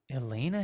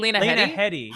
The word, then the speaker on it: Lena: in Game of Thrones Elena Haiti Elena lenaa Lena you mean lenaa yeah sorry I I said it wrong likea H she's so